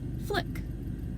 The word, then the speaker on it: Fliqpy: So, first things first, I'm going to be addressing this guy's name as Flick. You know, like flicking a light switch.